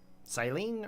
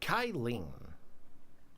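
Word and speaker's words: Cyllene: may call me kylen siline or kylen I feel like that C is pronounced a k kyen we'll we'll we'll try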